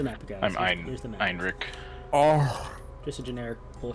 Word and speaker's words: Heinrich: Pronounce Heinrich? Heinrich, yeah.